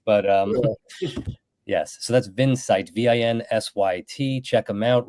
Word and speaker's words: Vinsight: like vinet it looks and everybody calls it Vincent Le so you're not the first must I as YT but pronounced vinsight yeah and I I kept asking uh Rich